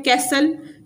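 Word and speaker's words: castle: इसमें T silent है कैसल इसमें भी टी साइलेंट है सेकंड पॉइंट है वो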